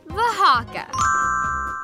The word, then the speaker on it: Oaxaca: Oshaka? Oaxaca? Oaxaca. And that's spelled with an O.